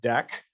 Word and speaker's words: deque: just like dq but it's called a deck like a deck of cards um so that gets